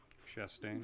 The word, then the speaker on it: Chastain: Is it Chastain, or do you do like French pronunciation, like Chastain? We go with the Florida pronunciation. Chastain. Chastain. With a like a chair.